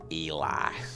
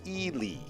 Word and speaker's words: Ely: gotta go back with the classic it's definitely eli that's that's actually not not even the common mispronunciation the common mispronounce is ellie uh but the actual pronouncement is elie yeah who knew uh three letters could uh